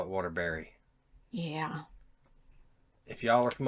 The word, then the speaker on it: Waterbury: If y'all are from up there, how do you say it? Bury Bury, or right? Berry? Bury. Bury. Okay, like if you're going to bury the hatchet, Mm-hmm. how would you say that? Bury.